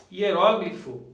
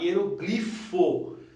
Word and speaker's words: hieróglifo: Agora veja bem, hieróglifo, você pode também falar hieroglifo, tá? Que são os caracteres da escrita dos antigos egípcios lá, né? O hieroglifo, mas pode falar também hieróglifo, tá?